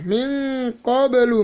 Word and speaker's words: مِنْ قَبْلُ: Nah, min qablu bacanya.